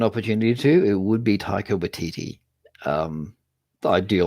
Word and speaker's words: Taika Waititi: Taika Waititi, the guy who did Jojo Rabbit, is that how you pronounce his name? Yeah, Taika Waititi.